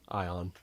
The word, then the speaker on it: Aeon: Is it Aeon or Ion? Ion.